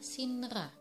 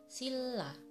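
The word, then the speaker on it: 신라: Untuk contoh yang pertama adalah sinra, harusnya dibaca sinra, tapi yang benar pengucapannya adalah silla.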